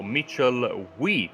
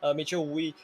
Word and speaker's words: Mitchell Wee: So Mitchell Wee, I think that's the correct pronunciation, right? If I got that correctly this time. Yeah, that is correct. Mitchell Wee comes home in 15th,